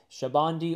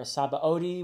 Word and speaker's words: Sabaody: so after I read the Return to Shabandi, or Sabaody, whichever pronunciation you want to use.